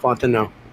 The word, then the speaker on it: Fontenot: I think that's just a French name. Oh, okay. It's a very strong Cajun name. I would add an X, but yes, that's how you say it. Fontenot.